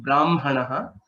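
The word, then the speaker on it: ब्राह्मणः: Similar to how you pronounced Brahmanaha, ma is pronounced first and then hakara. Okay, so though the writing is hakara is written first and makara is written later. Okay, but the pronunciation aspect is a bit special only for these three cases.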